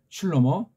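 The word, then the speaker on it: שלמה: 잠언은 슐로모 다윗 아들이 썼다고 하는 거. 한글 발음으로 솔로몬.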